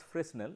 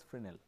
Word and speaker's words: Fresnel: So, this is called the idea of the it is not pronounced as Fresnel, it is pronounced as Fresnel, though the spelling is Fresnel.